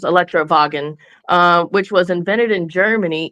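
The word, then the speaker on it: Elektrowagen: would have been pronounced Electrowagen, which was invented in Germany in 1888.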